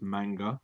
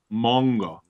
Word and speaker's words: manga: It's not pronounced manga. Oh, sorry. It's pronounced manga.